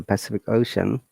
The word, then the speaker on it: Pacific Ocean: You may have noticed in this word, the Pacific Ocean, letter C has three different sounds. The first one is sa, then ka, then sha, which means that letter